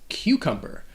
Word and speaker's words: cucumber: of the letter c that first c sounds like a q sound q q all right and the next c just has a k sound like a k k q cumber there are some other